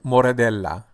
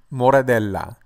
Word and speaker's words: Moradella: can be only classified as a table wine pronunciation of this wine grape variety is moradel moradel moradel I appreciate you watching please come back for